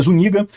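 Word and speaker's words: Zúñiga: é o nome dele esse n com tio aqui se pronuncia como NH nosso então é zuniga e o general foi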